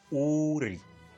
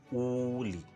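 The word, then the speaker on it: 우리: And this right here would be pronounced as Uri, Uri, not Uli, which would make absolutely no sense in translation.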